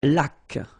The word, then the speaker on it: laque: Une laque. Remember the rule. When you get this QU, well, U is not pronounced, so you get k, like that.